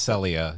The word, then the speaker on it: Celia: um so far uh cecily rose i believe her name is celia rose i think it's pronounced celia yep sally elliot was